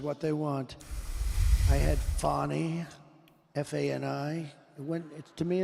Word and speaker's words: Fani: that she was literally asking people to pronounce it Fani, and I just couldn't take it seriously. I had to retake video clips because I kept saying Fanny on camera.